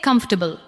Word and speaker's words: comfortable: Now say comfortable. Comfortable. Do not give every syllable the same weight. Let the first part carry the stress.